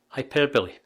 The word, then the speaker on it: hyperbole: quite surprised how poorly it was pronounced you pronounce it hyperbole the meaning is a way of speaking or